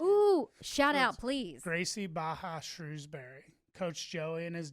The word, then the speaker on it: Barra: It's Gracie Baja. It's Gracie Barra. It looks like Barra, but I think it's Baja.